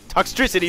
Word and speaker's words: Toxtricity: A different version of Toxtricity, that's how you pronounce it.